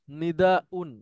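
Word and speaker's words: نداء: হ্যাঁ নাদা নিদা ইউন তো মূলত ছিল নিদায়ুন সেখান থেকে ব্যবহার হয় নিদাউন ইউনের উচ্চারণটা কঠিন এজন্য হামজা দিয়ে সহজ করা হয়েছে নিদাউন নিদাউন এই সেই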